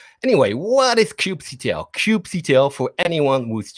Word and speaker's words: kubectl: um let's talk about cube ctl or let's start with the disclaimer how do we pronounce cube ctl is it cube control cube quito cubes doesn't really matter i tend to say cube cdo i think okay anyway